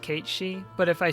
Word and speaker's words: Cait Sith: I know that Cait Sith is pronounced Kate-Shi, but if I say Kate-Shi, then it is less likely that people will know who I am talking about.